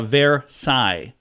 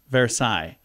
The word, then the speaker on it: Versailles: say shells say shells Versailles France is uh ver Sai Versailles uh Louvre museum in